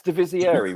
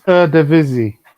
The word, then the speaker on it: Eredivisie: The correct pronunciation is Eredivisie.